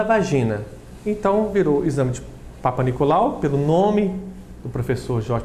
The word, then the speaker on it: Papanicolaou: Inclusive a pronúncia é Papanicolaou, mas todo mundo fala Papanicolaou, que era o sobrenome dele, é um sobrenome grego.